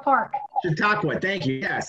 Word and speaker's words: Chautauqua: Can anybody pronounce that? Because I can't. Chata Aqua. Thank you. Yeah. Look at that. I got almost 1,000 views on that one already. And I just posted these. It's Chautauqua Park.